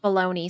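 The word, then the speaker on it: bologna: Like this is this is not how I often see baloney spelled. You You know what it spelled like? Like that. And it's pronounced baloney somehow.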